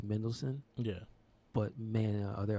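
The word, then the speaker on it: Mendelsohn: Oh, his name is spelled in such a way that you don't realize it's very simple. It's Mendelssohn, Yeah.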